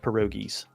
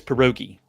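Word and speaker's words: pierogi: end the show except I said it wrong it's perogi that's plural one of the things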